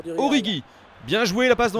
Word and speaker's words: Origi: Je l'ai vu, ouais, bien joué, la passe qui était un petit peu risquée, et donc apparemment, on prononce Origi.